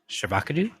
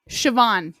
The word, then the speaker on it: Siobhan: Have you seen how they spell Siobhan? Shavakadu? Siobhan. No. Siobhan. What? Siobhan is how you pronounce that.